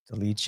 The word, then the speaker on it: Dolidze: Like, but that's the thing is like, I think, credit to Dolice, yeah. That's how you say his name. Like, Dolidze, you're talking about?